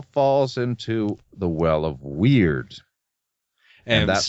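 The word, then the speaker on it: wyrd: And that all falls into the well of weird. And that's spelled W-Y-R-D.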